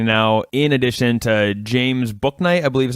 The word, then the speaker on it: Bouknight: We got Jalen Gaffney now, in addition to James Bouknight, I believe is how you say his name. B-O-U Knight, as in Knight in Shining Armor.